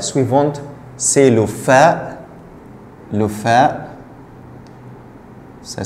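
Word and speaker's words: فاء: Le fa, ça s'écrit comme ça. Fa. Il y a un point au-dessus. Fa, c'est comme F, c'est le F.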